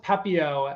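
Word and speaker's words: Pepiot: game yeah so so if we're going to go with pepio as uh the sort of agreed upon pronunciation the numbers are pretty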